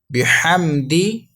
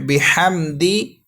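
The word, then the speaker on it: بِحَمْدِ: با زیر بی، حا میم زبر حم، بحم. دال زیر دی، بحمدی. دونوں ورڈز ملائیں گے. فسبح بحمدی.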